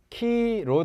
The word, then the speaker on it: Chi-Rho: "PX" 가 아닙니다 . 군대 에서 볼 수 있는 "PX" 가 아니라 , 치로 (Chi-Rho) 입니다 .